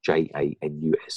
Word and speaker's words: Janus: called the janus gene j-a-n-u-s i'm talking about it's pronounced janus with a y meaning x and y-chromosome